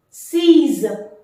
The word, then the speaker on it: six: to say number six sees sees so the pronunciation exactly like the English word sees C is X here